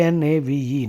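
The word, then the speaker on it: knave: him are you a Nave or a fool k n a v e Nave means a rascal Nave means a person who has no values K is silent n a v k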